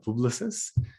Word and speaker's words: Publicis: yes so it's so it's like a french word so it's uh publishes um but i just say publish a sapient um yeah so that